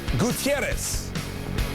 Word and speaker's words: Gutierrez: It's Gutierrez.